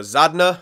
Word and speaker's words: Zadina: Okay, and so Zadna, I guess his name, and I was pronouncing it Zadina or whatever. Zadna, that's his name.